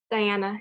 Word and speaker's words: Diana: what a great question diana make sure i'm pronouncing your name correctly diana yeah yeah okay wonderful thank you so much